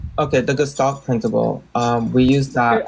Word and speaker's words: gestalt: The gestalt principle.